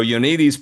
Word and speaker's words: Ioannidis: Am I getting that right in the pronunciation? You had it phonetic in your article. So Ioannidis, professor at Stanford University, pretty much of epidemiology